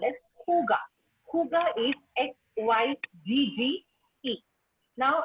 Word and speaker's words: hygge: Hygge is Hygge. Now, it's pronounced just Hygge, even though the spelling and the pronunciation doesn't match.